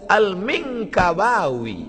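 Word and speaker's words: المنكباوي: Alif lam mim nun kaf ba alif wau ya. Rupanya lama saya baca Alminkabawi Minangkabau. Syekh Ahmad Khatib Alminkabawi nama dia Ahmad Khatib.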